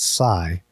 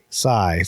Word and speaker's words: Scy: the pronunciation and it's Sai so Sai Sai like just like you know the grass cutter the Grim Reaper carries around yeah so yes that's